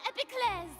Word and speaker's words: Epiclese: of stages, the Opera Epiclese. Oh, at least she pronounces it correctly.